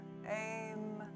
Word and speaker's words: Aim: So sometimes the her seed syllable which is aim a iim is pronounced aim when it's kind of sung.